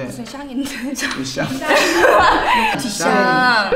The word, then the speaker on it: Duchamp: 뒤샹. 뒤샹.